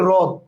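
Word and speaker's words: হ্রদ: রস্য, রেশা বা রদ, রদ বানানটা যদি বলি তো তখন কিন্তু আমরা হরদ বলি না, হরদ বলি না, আমরা বলি রদ, হরদ বলি না।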